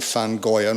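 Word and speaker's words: Van Gogh: so this is a lovely landscape by young fan goin off on Hoenn as they say in Holland I've tried pronouncing Dutch for you know my father would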